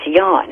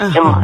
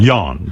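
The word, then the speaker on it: Jon: You know, it's Yan. It's pronounced John. Yan.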